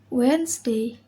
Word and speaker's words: Wednesday: letter d rule 1 d is not pronounced in the following common words example handkerchief wednesday sandwich handsome roto d